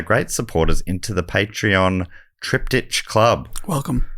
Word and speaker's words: triptych: supporters into the Patreon Triptych Club. Welcome. We know it's pronounced triptych. Now we do. For a couple of years we didn't, but that was because Dave said it wrong on episode 1, and we've gone with it since then.